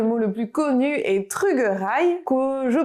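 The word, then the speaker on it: trugarez: Pour remercier, le mot le plus connu est trugerai, que je prononce ainsi à Groix, mais ailleurs on pourra aussi évidemment le prononcer trugaré et même trugares.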